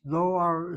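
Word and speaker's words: דואר: Okay, without vowels, Doar is spelled like this. To create the O sound, you have the long vowel there.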